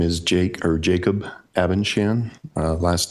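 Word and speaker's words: Abendschan: the record my name is Jake or Jacob abenchan uh last name is spelled a b e n d s c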